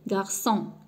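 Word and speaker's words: garçon: غارسون كنسمع لو سون س.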